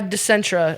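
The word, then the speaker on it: Dicenta: laughing again I'm sorry it's very Italian sounding uh decentra it's essential fun fact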